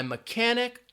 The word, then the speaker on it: mechanic: that so we have the H in mechanik the T in fasten and the W in wreck those are all silent letters I will say it again my mechanic told me to fasten